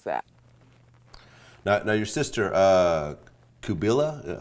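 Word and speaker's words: Qubilah: Now your sister, Kabila, how do you pronounce it? Yeah. Kabila, she was actually charged with conspiracy to kill Louis Farrakhan.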